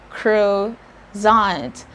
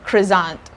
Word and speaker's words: croissant: french is croissant again crew crew zoned you make that kind of the z sound but not totally because it has two ss again that's croissant i actually had a